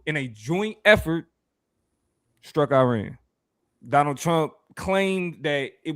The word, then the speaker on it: Iran: It is pronounced Iran. I'm sorry if it come an accent because I'm trying to say it right because calling it Iran is the same thing as being like Mexicans Arabs.